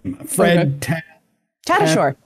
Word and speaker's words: Fred Tatasciore: You probably even know how to pronounce his name. Fred Tatasciore.